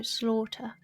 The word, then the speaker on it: slaughter: When the letters are combined in that way, A-U-G-H, it's a or noise, so slaughter.